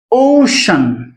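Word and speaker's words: ocean: ওকে, example যেমন ওশান, ও, ঠিক আছে, ওর উচ্চারণ ও হয়।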